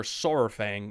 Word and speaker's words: Saurfang: Varok Saurfang, or Saurfang as it's supposed to be pronounced, is a legend amongst the Horde and a lot hold him in high regard.